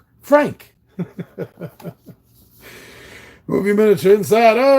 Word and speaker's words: Franck: His character's name was Franck. And Steve couldn't say it right. He kept saying Frank. And he kept Franck.